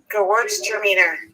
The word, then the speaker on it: Gewürztraminer: It's Gewürztraminer. Oh, you actually know how to say it. He's watching. Gewürztraminer.